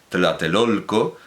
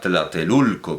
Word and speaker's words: Tlatelolco: Bueno, Colegio de la Santa Cruz de lo que ahora se pronuncia comúnmente Tlatelolco, pero en aquel entonces era Tlatelulco, como no se decía toltecas, sino tultecas, etc.